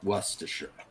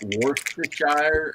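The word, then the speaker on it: Worcestershire: I learned to call it worershir but I have heard some people call it worshshire and and I'm pretty sure that is not correct worershir it's supposed to be like worershir that's how you say it and apparently it's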